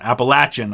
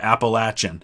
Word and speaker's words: Appalachian: Appalachian, I say it that way because outside of the northeast part of the United States, pretty much everybody pronounces it Appalachian. In the northeast, it's pronounced Appalachian, but the people who live there, for the most part, say Appalachian, so that's how I say it.